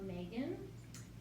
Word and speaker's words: Maegen: Well, my name is Mae, and Mae is short for Megan. So most of my life, people have called me Megan, but it's spelled Irish Gaelic, so it's spelled different. It's Maegen.